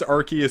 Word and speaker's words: Arceus: go yeah Arceus well they said it was pronounced Arceus solely because the local it was like yeah we don't want the British kids to laugh at ours like that's stupid I'm